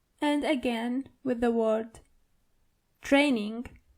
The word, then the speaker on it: Training: And again with the word training. The German version of it is training. So you only have to roll your r.